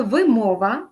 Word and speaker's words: вимова: правильно наголошувати ці слова саме вимова наголос на другій склад висить наголос на перший